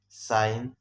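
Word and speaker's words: sign: اگزامپل ساین، ډایفرام، ډایفرام. دې کې د ساین کې جیم سایلنټ دی، ډایفرام کې بیا جی سایلنټ دی.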